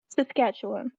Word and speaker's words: Saskatchewan: as how do you say did you say skatch one or Saskatchewan Saskatchewan okay what are the what are some what